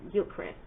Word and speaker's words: Gilchrist: larry and then correct it's like christ but it's pronounced chris like gilchrist okay all right here